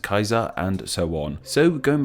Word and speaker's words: Caesar: Cicero should be called Cicero, Caesar should be pronounced Kaiser, and so on.